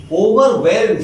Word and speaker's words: overwhelm: बाहर जाओगे एक साइलेंट रहता, what, WHAT, what, where, well, ओवरवेल्ड, W का उच्चारण करो, ओवरवेल्ड।